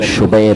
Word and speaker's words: شبیر: اور شبیر یہ عربی میں اس کا صحیح تلفظ شبیر ہے.